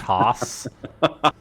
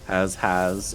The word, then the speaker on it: has: Thank goodness that has is pronounced Haas. Because if it was has. Has oracles.